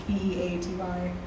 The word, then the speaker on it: Beaty: Not spelled how it's pronounced. It's Beaty. Yeah.